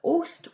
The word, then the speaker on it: host: a short o sound but ost is an exception to the rule and in post host most almost it's a long vowel sound you hear the o